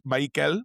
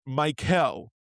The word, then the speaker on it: Maikel: It's Maikel, but it is not Mike Hell. It's Maikel. Like, it's the the the emphasis is still on that first syllable, but um that second syllable does get a little bit more of an S sound.